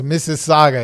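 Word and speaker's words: Mississauga: the Ontario area you might have some problems pronouncing that City but it's Miss Saga it is a city Google it okay she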